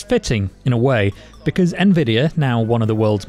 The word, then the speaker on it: Nvidia: There's no debate, it's Nvidia. And yet, many think this multi-trillion dollar artificial intelligence pioneer is called Nvidia. But it's fitting, in a way, because Nvidia, now one of the